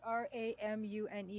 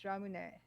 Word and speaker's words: ramune: be confused with that no because it's like r-a-m-u-n-e is ramune ramune and how do you pronounce ramen ramen r-a-m-e-n which is ramen ramen